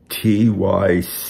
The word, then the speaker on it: Tychicus: It's spelled T-Y-C-H-I-C-U-S. And by my way of thinking, that's Tychicus.